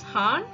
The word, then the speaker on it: han: is a male then we say it does Han if it's a female then we Say hoon